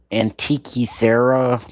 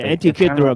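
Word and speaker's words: Antikythera: to mispronounce it, but I think it's like the antique mechanism. Yeah, anti-throw mechanism.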